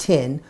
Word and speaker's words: Thien: my name tin that's t-h-i-e-n it's pronounced tin win with tin and the last name